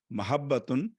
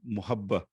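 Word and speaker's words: محبة: The correct pronunciation is with a fatha on mim and a fatha on ha. Okay, mahabbatun has a meaning of love, not muhabba.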